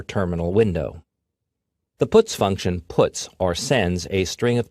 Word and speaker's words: puts: They are pronounced printf, putchar, and puts.